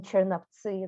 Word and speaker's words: Chernivtsi: the Nazi Empire, and I will say in Chernivtsi, that's how we pronounce it, in Bukovina, part of the Austro-Hungary